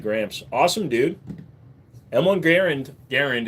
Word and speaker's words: Garand: awesome dude M1 Garand Garand is actually the correct pronunciation are awesome dude good